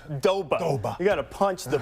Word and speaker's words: Doba: He'll still mention Bill Doba's name. Well, of he course, just likes to say it. It's 2 syllables. Doba.